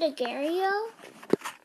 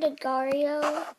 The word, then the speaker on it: Agar.io: Some people pronounce it Agario. I pronounce it Agario.